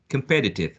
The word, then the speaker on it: competitive: the number of syllables competitive one has four syllables and the second one carries the stress or the second one is the most prominent more and the most salient um one of the four okay so um no